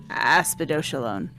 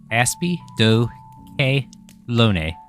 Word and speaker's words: Aspidochelone: some help from Loki I have figured out that it is pronounced aspy do lone asone thought it was L yes as asido Kone asone yes if I'm